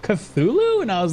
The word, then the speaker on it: Cthulhu: Chulu, right? Cuz you you would you would try to pronounce it that way until like one day um I was playing a game that actually said the word out loud and I was like, "What was that? Did it just pronounced that Cthulhu?"